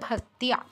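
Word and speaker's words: ভক্ত্যা: শাশ্বত ভক্তিয়া, ভক্তা নয়, ভক্তিয়া ভক্তিয়া।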